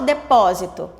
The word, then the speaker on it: depósito: Mas olha só o depósito. Depósito, o pó, que é a sílaba tônica, não está no começo, não é a primeira.